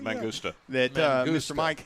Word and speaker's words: Mangusta: Mangusta.